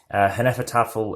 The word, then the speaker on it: Hnefatafl: as the Viking game hen effort offal is how I like to call it from snow spelling and